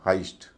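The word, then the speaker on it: heist: एच आई एस टी का मतलब होता है लूट या सेंधमारी इसका उच्चारण है हाईस्ट हस्ट नहीं है हाईस्ट और एच इ आई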